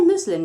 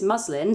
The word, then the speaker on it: muslin: bowl with a well i say muslin but i've just been informed it's muslin so muslin cloth over the